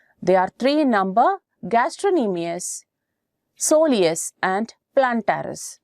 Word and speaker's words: gastrocnemius: are three in number gastronemias Soleus and plantaris gastrocnemius you can note the spelling the sea is silent when you pronounce gastrocnemius this one is a